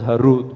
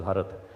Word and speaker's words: Harud: Yeah, commonly known as Harud, but I'm from Kashmir. I think it's pronounced as Harad.